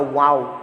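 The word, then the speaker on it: wau: next is the malaysian wow kite wow kites are popular in malaysia it wings are similar to an arabic letter that is pronounced as the wow or this kite making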